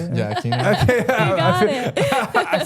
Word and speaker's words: Aquino: They like Aquino. Is that how you say it? Yeah, Aquino.